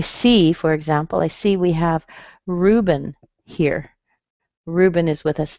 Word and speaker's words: Ruben: We're going to make a strong ru, and notice what happens to the E in the B-E-N. Ruben. You notice that E doesn't sound like an E, it sounds like a schwa.